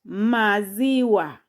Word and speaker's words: maziwa: For example, here I've taken syllable ma plus z plus wa to get maziwa. Maziwa.